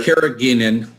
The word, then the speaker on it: carrageenan: So we've got a lot of people asking about the how do you pronounce that, Dr.? Carrageenan.